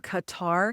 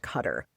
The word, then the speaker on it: Qatar: And by the way, I always thought it was pronounced Qatar. I thought it was Rob's Rob's aunt and uncle lived there for a while and they told us it's properly pronounced Cutter.